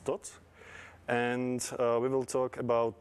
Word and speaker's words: Thoth: So the pronunciation, at least Czech or Slovak, is Thoth.